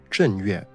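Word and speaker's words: 正月: In Mandarin, it's pronounced Zhen Yue. This huge difference of pronunciation is again just due to the Japanese using an archaic Chinese pronunciation for the same word.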